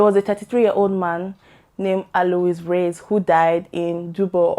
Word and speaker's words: Alois: Alois, because I checked the pronunciation Alois, so it's a French name.